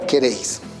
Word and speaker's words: queréis: ¿Cuántas sílabas podemos encontrar en la palabra queréis? 1, 2. ¿Dónde se encuentra la mayor fuerza de voz? En la última sílaba. Y recuerda la regla para colocar tilde a las palabras agudas. Estas palabras tienen que terminar en N, S o vocal. Como esta palabra termina en la consonante S, es necesario colocarle la tilde.